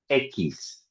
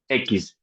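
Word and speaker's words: equis: We say echis echis the phone the sound of x uh it's equivalent at a k and an s.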